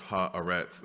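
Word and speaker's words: Haaretz: Solomon gave me coached me on how to pronounce ha arets she told me not to mess it up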